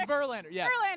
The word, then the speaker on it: Verlander: sirlander last name uh it Rhymes oh oh it's Verlander yeah um yeah I